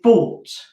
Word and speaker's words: bought: And the past tense of buy is bought. Okay, and it's spelt really differently, isn't it? So b-or-t. So again, this bit like court, but with an O.